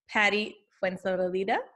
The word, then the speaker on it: Patty Fuenzalida: Today we have the fabulous Patty Fuenzalida.